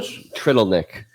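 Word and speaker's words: Trdelník: So Trittleneck.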